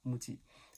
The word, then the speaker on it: MUJI: 那个英文拼音来叫 "MUJI"，发音来的。